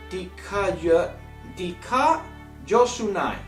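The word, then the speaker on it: δικαιοσύνη: So the pronouncement of the Greek word of justice is dikaiosunai.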